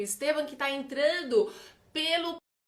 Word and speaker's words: Estevan: É Estevam ou é Esteban? Estevam mesmo, tá correto, Camila.